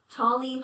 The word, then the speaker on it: Tally Hall: In in English, T A L L Y is pronounced tally.